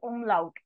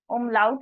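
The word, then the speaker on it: Umlaut: of it these two dots are called as umlout a u m l a u t umlout in German so if on a on top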